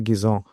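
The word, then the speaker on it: Guizot: But who who was uh Fanso Gizone? Uh pronunciation is perfect by the way that one too.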